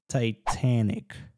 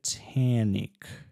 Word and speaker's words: Titanic: с названия этого фильма как оно читается tanic я делаю дифтонги зации tanic и немножко назализация добавляю потому что в американских акцентах преимущественно вот такой позиции Когда у нас звук А как Cat и после него идёт звук н м